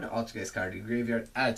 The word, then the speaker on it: Altergeist: And then Altergeist Manifestation, yeah, that's how you pronounce it. Normal trap, activated by targeting one Altergeist monster in your graveyard, special summon it in